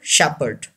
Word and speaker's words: shepherd: R is also silent Shepard say this word Shepherd shepherd thanks for watching this video subscribe the